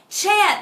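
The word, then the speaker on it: חית: Chet, which is pronounced chet, is actually the ancient symbol of a fence in an inner chamber.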